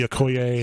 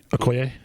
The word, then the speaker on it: Okoye: I don't need to see Okoye.